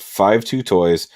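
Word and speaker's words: 52Toys: to a degree uh the company's name is pronounced five two toys five and two means i love in chinese so it means i love toys it's interesting um but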